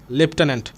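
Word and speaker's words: lieutenant: তারপরে ইউ টেন and that means লেফটেন্যান্ট। ঠিক আছে? এই বানানটা পরীক্ষায় আসার চান্স সবচেয়ে বেশি।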